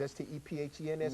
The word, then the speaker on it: Stephens: Spells like Stevens, S-T-E-P-H-E-N-S, but it's pronounced Stephens.